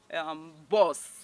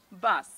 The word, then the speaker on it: bus: Now, you don't go with oh, because this sound is difficult for many English language learners. They tend to shift the sound and pronounce the oh sound. Yes, so most of the words with this ah sound has been interchanged with oh. So that's why you hear people saying up, boss, yes. But the correct pronunciation is up, bus.